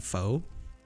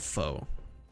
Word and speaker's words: pho: only know far and most people don't even pronounce it correctly it's crazy you want to get some pho dude I love foe I'm so cultured it's Vietnamese have you heard